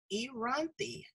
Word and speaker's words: Inthirani: It's three syllables. Inthirani.